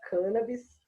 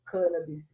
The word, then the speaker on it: cannabis: paulo foi aí que eu aprendi a pronúncia cannabis foi com professor zuardi foi ele que apresentou essa pronúncia e mais para frente por volta de 2013 mais ou menos 2014 quando eu conheci o professor karine ele também e apresentou essa pronúncia né então é assim que é registrado na academia brasileira de letras como cannabis e essa pronúncia que